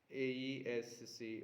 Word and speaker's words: aesc: tarjan of the apps aesc also is spelled as a sh in english accent a letter in the